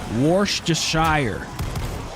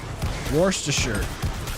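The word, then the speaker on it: Worcestershire: you spelled it correctly War to Shire is what most people say but it's wor war wor to sure I say sure because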